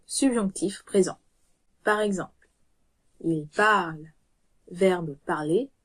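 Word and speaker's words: parlent: Bien que la terminaison soit ENT, elle ne se prononce pas. On dit donc il parle pour il parle, sans ajouter de son supplémentaire pour le ENT.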